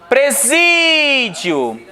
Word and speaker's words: presídio: Presídio. A sílaba forte é a penúltima. Então é uma paroxítona.